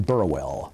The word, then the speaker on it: Burwell: I'm Burwell. That's spelled B-U-R-W-E-L-L, Burwell.